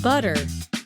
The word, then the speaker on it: butter: 미국식 butter.